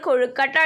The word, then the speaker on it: കൊയക്കട്ട: എന്താണ് അതായത് ഇവിടെ നമുക്ക് കൊയക്കട്ട എന്നാണ് അതായത് സാധാരണയായിട്ട് നമ്മൾ കൊഴുക്കട്ട എന്ന് പറയുന്നതിനു പകരം പ്രാദേശികമായി ഉച്ചാരണ വിധ്യാനം വന്നിട്ടുള്ള കൊയക്കട്ടയാണ് ഇവിടെ ഉപയോഗിച്ചിരിക്കുന്നത് നിങ്ങളെല്ലാവരും കൊഴുക്കട്ട കഴിച്ചിട്ടുണ്ടാകുമഎന്ന് വിചാരിക്കുന്നു അപ്പോ അതിന്റെ